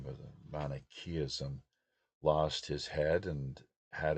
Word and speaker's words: Manichaeism: Persian prophet Mani, uh, founder, I guess, of Manichaeism, sometimes pronounce it Manichaeism, but Manichaeism, lost his head and had it placed on